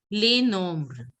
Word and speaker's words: les nombres: And nombre, numbers is pronounced as les nombres.